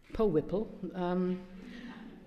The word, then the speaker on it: POW1PL: Now you can follow this, and I think this is what I'm saying, it's hashtag POW1PL, which is actually pronounced Po Whipple.